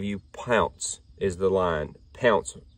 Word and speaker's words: Pounce: Pounce, I'm pretty sure, is the way they pronounce it.